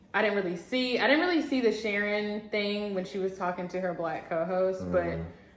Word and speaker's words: Sharon: Sharon rhymes with Karen, so okay.